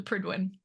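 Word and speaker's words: Prydwen: from Fallout 4 and that's how I know how to pronounce it it's the pridwin and that that Charming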